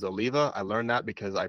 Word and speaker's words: Oliva: an Oliva cigar um a lot of people pronounce these Olivia but the correct way to say it is Oliva I learned that because I pronounced it Olivia one time in a